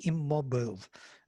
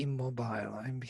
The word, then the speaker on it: immobile: You all say immobile. I say immobile. I heard it immobile, and I can be used to it. It both ways can be pronounced. Yes, immobile and immobile.